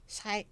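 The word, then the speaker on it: Xay: Sabi ni Ano ba, how do you pronounce X-A-Y? Sai.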